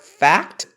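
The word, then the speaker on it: Phact: Mars is on the fixed star fact and it's spelled pH CT and it has to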